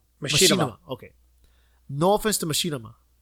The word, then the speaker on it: Machinima: And no offense to am I saying it right, Makima? Machinima.